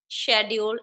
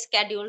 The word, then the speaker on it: schedule: so we know that we used to speak schedule and nowadays schedule so both are correct because both are correct